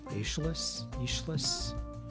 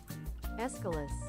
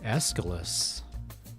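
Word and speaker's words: Aeschylus: Escalus. Escalus. Okay, I was way I was way way off.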